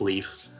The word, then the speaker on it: Lif: from Norse mythology which is spelled LIF LIF pronounced Leif who was the one of the two survivors